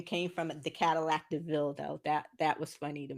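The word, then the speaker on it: De Vil: yeah, and at the time it was they called it Devil, so it was like Cruella Devil, but she was like, "Huh." And then he was like, "No, it's you pronounced it Deville though."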